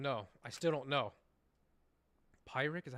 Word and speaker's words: Pyrrhic: Pyric, is that how you pronounce it? Hold on. Pyrrhic.